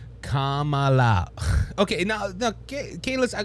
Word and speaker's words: Kamala: that worked okay because it was Camala four years she was running when she was in California now that she's running oh my goodness you got to say it right Kamala it it's funny how